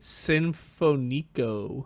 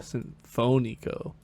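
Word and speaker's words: Sinfónico: Nietzsche Sinfonico. You put the accent on the wrong. There's literally an accent above that O. Whoops. That's okay. Well, then you say it. Nietzsche Sinfonico. Sinfonico.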